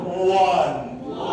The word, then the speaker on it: won: পরেরটা আসি উইন, কি আছে উইন, তারপরে কি আছে ওয়ান, ওয়ান, ঠিক আছে। এটা কিন্তু হচ্ছে একদম পুরো পারফেক্ট প্রোনাউন্সিয়েশন, ঠিক আছে। WON কি বলবো ওয়ান, এরকম আমি লিখে রেখেছি কিন্তু ONE, ওয়ান এর মতো লিখে দিয়েছে, তার মানে